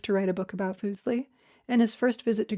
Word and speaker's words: Fuseli: Fuseli, pronounced Fuseli, was a neglected figure of the utmost importance.